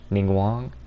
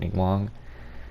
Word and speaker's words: Ningguang: Obviously, I gotta get, I forgot how to say her name. Ningguang? Pretty sure that's correct, Ningguang.